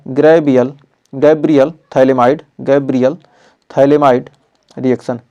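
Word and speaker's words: phthalimide: अगला है gravel Gabriel थैले माइड गैब्रियल थैले माइड रिएक्शन पीएच क्या है इसमें साइलेंट है तो थैले माइड रिएक्शन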